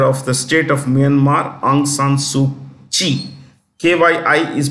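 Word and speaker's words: Aung San Suu Kyi: former Chief counselor of the state of Myanmar aung San suu Chi kyi is pronounced she is in jail now of course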